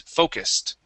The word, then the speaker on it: focused: Okay, remember that US is going to be pronounced as an IS. Okay, so it is focused.